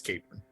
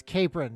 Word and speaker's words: Capron: virtual studio with me today, I have Capron. Hello. Hi. I should have asked before we begin, is it Capron or Capron? Both are acceptable. I think the Virginia standard is Capron. Is Capron, yeah, because Virginia has to do everything a